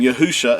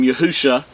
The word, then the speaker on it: Yahusha: the the mashix name yahusha this is uh from left to right the first three letters uh are pronounced as yahoo and the last two